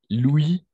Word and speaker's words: Louis: Louis, masculin. D'accord? Comme les fameux rois Louis XIV, n'est-ce pas? On prononce Louis.